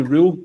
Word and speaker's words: Röhl: I'm looking for your initial reaction when Danny Rule, as we've been told to pronounce it, when Danny Rule was a Rangers, man.